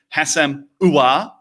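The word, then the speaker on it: Houssem Aouar: Hassam Ouar. Sound like Al Pacino when you're saying it, and you'll work out what you're doing.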